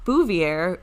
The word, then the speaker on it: Bouvier: Okay, and then from Virginia Bouvier, who very kindly told me how to pronounce her name by putting a little ghost. It's like John F. Kennedy's wife.